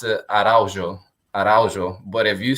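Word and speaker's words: Araújo: ways to pronounce it there's the actual portuguese way which you know with the j and like the j you pronounce it araujo but if you say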